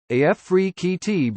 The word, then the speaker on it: Afrekete: home Nike product tester Africa at work from home jobs pronounced AF free QT before we get started